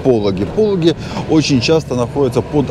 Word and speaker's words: Пологи: Правильно, кстати, звучит не Пологи, а Пологи. Ну, мне как-то привычнее назвать Пологи. поэтому не обижайтесь, если вдруг вам режет ухо мое произношение.